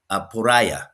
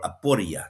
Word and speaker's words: aporia: is helping people reach a state called aporia or aporia, depending on how you want to pronounce it. I've heard it both ways.